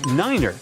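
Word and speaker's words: niner: in their pilot English tree stands for three five for five and ner is used instead of nine such pronunciation helps to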